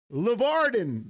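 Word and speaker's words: Larvadain: LeVarden.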